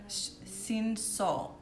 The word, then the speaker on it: Cinsault: Oh, and I didn't say this, but the grape on this rosé is 70% Grenache and 30% Cinsault.